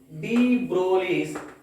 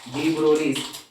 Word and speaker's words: de Broglie: Continuation to that last class, next concept is one of the important concept, de Broglie's wave equation. De Broglie's wave equation, a G silent letter.